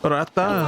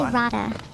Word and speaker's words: rata: Pretty close. Arata It's actually rata.